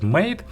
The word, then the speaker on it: M8: the hi-fi made or spelling m8 like letter and digit but of course it's supposed to be pronounced as made and it was a